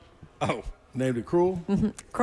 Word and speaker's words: Krull: Uh you spell it K R U L L, Krull.